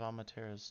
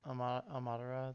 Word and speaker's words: Amaterasu: Markham, how do you pronounce the full god name that she's based on? Amatera? Amatera? Nope. No! Amaterasu. Amaterasu. Amaterasu.